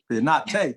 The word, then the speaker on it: Pineda: Pineda, thank you. Is how you say my last name.